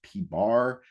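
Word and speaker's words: p̄: Then we have P with a line over it, pronounced P bar, and that's the mean proportion.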